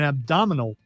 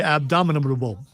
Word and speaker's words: abdominal: because I want to say abdominable which uh you know has to do with the the abominable Can't find a thing.